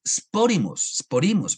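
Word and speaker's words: σπόριμος: La palabra sembrados, sporimos, perdón. Aquí aquí la tilde está mal porque la tilde está en la I, entonces es sporimos.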